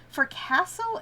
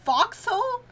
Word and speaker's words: forecastle: For castle is pronounced foxhole? Forksole? That's so fucked up. I hate that. I'm gonna be calling it for castle.